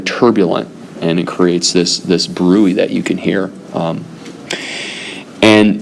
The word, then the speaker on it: bruit: And if you hear that, that's something known as bruit. Okay, I believe it's B-R-U-I. Bruit. I believe it's spelled brutes.